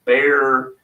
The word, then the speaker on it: Bexar: there named Bri from bear or she call it Bexar barbecue or it's I pronounce it bear bear county yeah and uh she